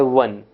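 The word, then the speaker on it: one: का उच्चारण ओ और व ओ का उच्चारण व केवल एक ही शब्दों में होता है वह है वन वन ओ एन ई वन वन मतलब एक उसमें ओ का उच्चारण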